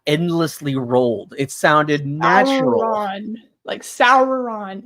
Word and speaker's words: Sauron: Sauron, like it sounded like that. Like there's the R is always pronounced.